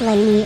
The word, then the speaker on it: Leanne: I found out that Leanne's name is Northern European in origin it is pronounced Lanie are they not depending